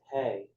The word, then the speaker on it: He: That second letter is He, pronounced Hey, and symbolizes the Divine Mother.